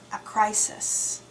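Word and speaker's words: Acrisius: Argos was a kingdom, and the king of Argos' name was Acrisis. Sounds like the word a crisis. A crisis.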